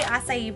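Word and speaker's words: açaí: So I say acai bowl, that's apparently how you pronounce it.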